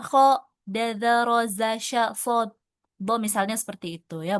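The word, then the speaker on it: صاد: Ini juga bukan dibaca sh tapi shod ya.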